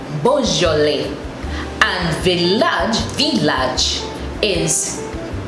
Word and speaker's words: Beaujolais: But in French, they take away the I and S and say lait. So it is Beaujolais. Beaujolais.